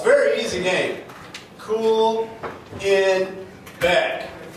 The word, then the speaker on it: Kuhlenbeck: go back cooling Beck it's very easy game cool in back it's a very rare name you can Google